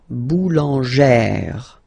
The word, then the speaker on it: boulangère: Remember, when you've got this e plus this accent grave, you pronounce it like eh, really open eh sound. Okay, so boulanger, boulanger, and then feminine form, boulangère, boulangère.